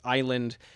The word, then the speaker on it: island: Uh two examples that I recall from the book is island um and which which is sort of a classic example of inserting this s uh based on a false etymology, this silent s.